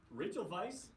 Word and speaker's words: Rachel Weisz: Okay, I just want to say People Rachel Weisz, and that is the proper pronunciation of her name.